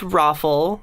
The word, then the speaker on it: ROFL: back okay ah FL it's pronounced rofl see this is another